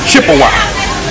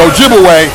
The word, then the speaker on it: Ojibwe: it they twice and of course they corrupted the pronunciation of those Ojibwe people to Chippewa absolutely so Chippewa and Ojibwe that's the same people wise the European Corruption of their real name Ojibwe okay so they begin